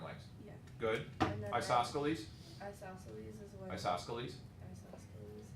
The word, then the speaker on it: isosceles: The other one includes isosceles as part of equilateral, so that isosceles triangles